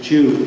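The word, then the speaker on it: Dieu: It wasn't actually Jew, it was D-I-E-U, but everybody pronounces it the other way.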